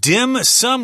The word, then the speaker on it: dim sum: this of course the the mandarin term is din seen but of course in Cantonese it's pronounced differently dim sum I don't